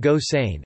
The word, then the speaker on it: Gosseyn: topic plot summary Gilbert Goss ein pronounced gosain a man living in